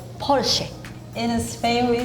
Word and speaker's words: Porsche: In Germany, we say Porsche. I think in America we usually say Porsche or Porsche. In China, we see 保时捷. In Japan we say Porsche.